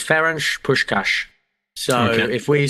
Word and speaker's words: Ferenc Puskás: I asked the lady it's fench push cash so if we sound like Steve McLaren then that's the fault of the Hungarian language Sean conry frch yes yes a fench push cash so this is very